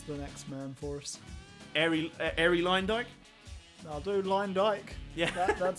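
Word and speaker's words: Arie Luyendyk: Airy Line Dyke? I'll do Line Dyke. Yeah. That's fine. How would you have pronounced it? Because it's only because I've heard commentators say his name. Airy Leendick.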